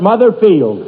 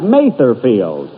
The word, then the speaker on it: Mather Field: Here it is, Mother's Day, and we're at Mother Field. That's Mather Field. And although I pronounced it wrong last week.